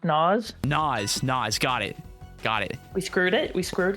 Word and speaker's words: Naz: I've gotten word that Naz is pronounced Nas.